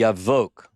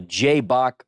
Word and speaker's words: Jabbok: and 1 kilometer north of the Yavok, the Jabbok River, as some would call it based on the English.